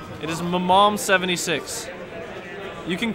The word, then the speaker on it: MMOM: this Grand finals it's what thank you it's pronounced Mom it is Mom 76 you can call it mm but it is